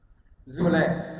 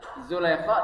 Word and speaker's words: Zulaikha: Zulaikha. Tulisannya Zulaikha tapi kita bacanya Zulaikha.